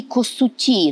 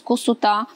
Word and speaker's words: Косута: Пилип народився 11 жовтня 1672 року в селі Косуті, наголос саме такий. Для мене це також відкриття і дуже цікаво, чому саме такий наголос Косута.